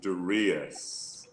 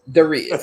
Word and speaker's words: Darius: Because the world is listening, it's actually Darius. Darius. That's right. Yeah, excuse me. Well, it's okay. It's confusing. Felt like and so people pronounce it all different ways, so it's no problem. But it is Darius. Darius.